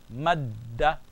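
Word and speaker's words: مدّ: So how am I going to join? Mad, I join, mad, and call me again, da, madda.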